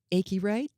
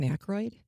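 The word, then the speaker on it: Aykroyd: It didn't have any of those kind of robotic things or mispronunciations like I saw one where the AI robot said Dan Achi instead of Dan Akroyd.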